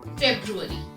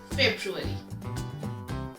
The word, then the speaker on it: February: The second month of the year is February. Try after me, February.